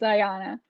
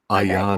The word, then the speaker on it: Ayana: That's Ayana. Is that what we agreed on the pronunciation? I believe it is Ayana.